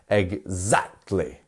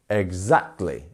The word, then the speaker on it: exactly: our stress syllable exactly it's in our second syllable isn't it so it's the Z bit here we have our two dots exactly exactly exactly so you can actually split the word into its syllables and practice that way because you can just practice z z z exactly exactly and in doing so you